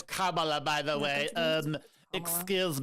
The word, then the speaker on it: Kamala: would just pivot it's by the way it's Kamala by the way um excuse me excuse me